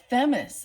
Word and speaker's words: Themis: okay and then uh themus is that how you pronounce it Themis th m i s is the uh Libra